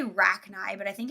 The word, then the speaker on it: Rachni: By the way, you were right with the first pronunciation of Rachni. Right, okay, I thought so. Like Arachni, right?